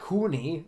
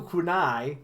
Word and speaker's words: kunai: so kunai kunai with chain what what are you what am I supposed to pronounce it as it's not Kuni n kunai it's it's it's it's kunai what did I say